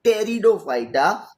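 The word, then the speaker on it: Pteridophyta: ये वर्ड जो है स्टार्टिंग उसका पी से हो रहा है, लेकिन पी जो है वो साइलेंट है, तो उसको बोलते हैं टेरिडोफाइटा, जिम्नोस्पर्म्स, एंजियोस्पर्म्स.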